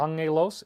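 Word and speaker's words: ἄγγελος: the new Testament it's Angelos you pronounce that Ang with the two G's so it's Angel Angelos angel that translates as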